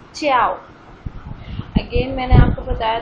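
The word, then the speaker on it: 叫: च्याओ क्योंकि जे की pronunciation Chinese में चे की साउंड देते हैं ची की साउंड देते हैं ची निशेस में हम पढ़ चुके हैं. तो ये क्या वर्ड हो जाएगा च्याओ. च्याओ टू be called fourth tone के साथ. फोर्थ टोन को हम हमेशा थोड़ा सा सख्ती के साथ प्रोनाउंस करते हैं.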